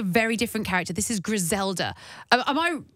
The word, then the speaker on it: Griselda: different character this is grisela am I say I'm not rolling the ODS enough am I nobody was perfect how would you how do you say it Gela Gela sounds better I don't know I